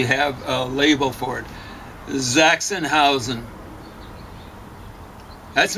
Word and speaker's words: Sachsenhausen: So you ever heard of a place called Sachsenhausen, Pauline? No. Sachsenhausen is the way you mispronounce it, Sachsenhausen.